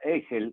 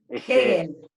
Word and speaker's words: Hegel: Cuando de repente uno de pronto dice, no sé, Egel, ¿Egel se pronuncia tu apellido? Hegel.